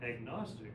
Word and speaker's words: agnostic: Um in the case of agnostic, although in English we don't normally pronounce the opening G in gnostic, when we add the negating prefix A, we pronounce the G.